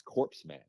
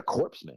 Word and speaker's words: corpsman: for those listening it's because Corman is spelled c o r PS m cor like the Marine corpse right so I'm like yeah corpsman I'm like what's that